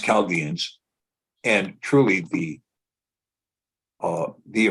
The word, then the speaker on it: Chaldeans: it's spelled like this say Chaldeans but it's pronounced calgians and truly the uh the original every is